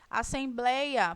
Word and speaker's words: assembleia: Assembleia, por que que não recebe acento? Nós temos aí a separação silábica da palavra, e aí nós conseguimos identificar que a sílaba tônica, que é blei, é a penúltima sílaba, ou seja, ela é uma paroxítona.